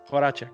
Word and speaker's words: Horacek: Am I pronouncing it right? Yeah. Horacek.